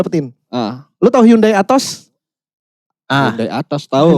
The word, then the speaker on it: Atos: Lu tahu Hyundai Atos? Ah Hyundai Atos tahu. Hyundai itu bacanya A to Z.